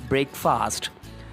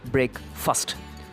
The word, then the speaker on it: breakfast: know this you pronounce I mean general V pronounce it as break fast it is not break fast the pronunciation must be break first so the pronunciation of the word fast is